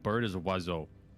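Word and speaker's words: oiseau: oh dewey and then like bird is a wazzo wazzo and it's spelt so stupid like here i'll i'll spell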